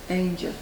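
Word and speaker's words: Aungier: who developed the street his name is French and is correctly pronounced an but modern Dubliners prod pronounce the street name Angel formerly this area was waste ground near the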